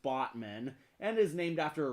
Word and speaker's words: Batman: You know there's a city in Turkey called Batman, except it's pronounced Botman, and is named after a river.